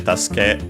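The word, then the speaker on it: 助け: Tasuke on its own, yes, accented on the last syllable, luckily, as per the rule, since the verb is accented.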